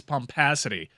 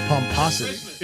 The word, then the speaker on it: pomposity: fan but there's just no show without his pumpacity mike lupica yeah i think it's pomposity is it i think how pompous do you